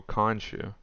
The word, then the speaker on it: Khonshu: Khonshu.